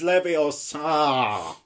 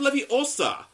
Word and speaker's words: Leviosa: your Tsar you got something it's like you pronounce I did not yeah oh it's Leviosa oh hi mark not got any friends it is not Libby Oh sir it's not true it's this